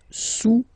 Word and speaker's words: sous: Le cube est sous le cylindre, okay, le cube est sous le cylindre. Don't pronounce the final S, and then this OU combination of vowels is pronounced OU, okay? Sous, sous.